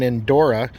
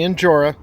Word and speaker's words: Injora: because some people think I'm saying in Dora when it's actually in Jorah it's just the way